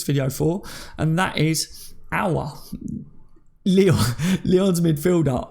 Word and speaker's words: Aouar: for and that is our Leo the odds midfielder I kept calling him a alright I don't know why but you pronounce it our okay so right what